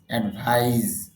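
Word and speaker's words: advise: আর যদি এস এ যুক্ত করেন তখন উচ্চারণ হবে অ্যাডভাইস, তখন অর্থ হবে উপদেশ দেওয়া।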